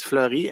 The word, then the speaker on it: Fleury: the Bible uh please indicate your name and spell it my name is Fleury last name is flurry f l e u r y do you